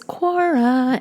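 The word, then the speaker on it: Quora: out what my audience is looking for is Cora and if you've never heard of Cora it's spelled qu o RA and basically it is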